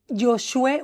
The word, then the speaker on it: Josué: Bueno, pero Josué, usted no tiene eh no, yo creo que usted no ha conocido un tocayo. Su nombre es Joshué. Josué. Josué. Sí. Sin pronunciar la H.